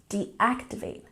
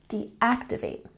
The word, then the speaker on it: deactivate: a look at pronunciation deactivate has emphasis on the second syllable deactivate deactivate and leave has a